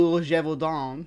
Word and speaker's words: Gévaudan: to explore the legend of the Beast of jeevon or pronounced in the French it's leet D jeevon yeah I practice my French for this one